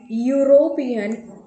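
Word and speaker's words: European: That means यहाँ पर ये कॉन्सोनेंट वाली साउंड है य, ठीक है।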